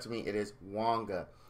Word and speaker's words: Wanga: first thing about Wonka is his name is pronounced Wonga very funny story on this when I first got him I was pretty excited and I was calling him wanker and uh you know of course you know